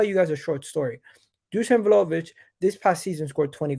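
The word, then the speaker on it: Dušan Vlahović: Dusan Vlahovic.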